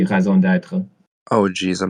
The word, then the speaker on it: raison d'être: In French, it would be raison d'être.